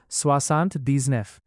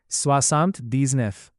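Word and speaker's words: soixante-dix-neuf: इसीलिए 79 का original French में प्रोनाउंसिएशन होगा स्वासांत दीजनेफ। तो बोलिए स्वासांत दीजनेफ।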